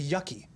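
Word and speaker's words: yuccie: With two C's, but it's pronounced Yucky.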